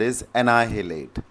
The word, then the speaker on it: annihilate: दे है date world इस निलीट क्या है शब्द इसको प्रोनाउंस करते समय आपको कोशिश करनी है की इस हा को हल्का सा साइलेंट रखना है तो ये मिलते